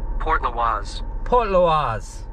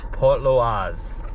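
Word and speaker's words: Portlaoise: Port Loise. Port Loise.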